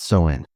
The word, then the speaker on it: Samhain: They called it Samhain, pronounced Samhain.